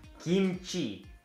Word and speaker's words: kimchi: in our list is kimchi they people pronounce it kimchi because it's stars with k but it's more like kimchi which like a g instead of k some people think